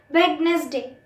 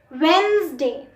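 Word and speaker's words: Wednesday: ये कोई वर्ड नहीं होता. वेंसडे, वेंसडे, ज की आवाज़ आती है एन के बाद. वेडनेसडे कुछ नहीं होता. वेंसडे, डी साइलेंट होता है शुरू का और जो एस की आवाज़ होती है वो जेड के साथ निकलती है.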